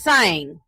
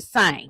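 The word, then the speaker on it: Tseng: So, um it's Sang. It It's What is it? T S E N G. I think that But the T is silent. The Sang.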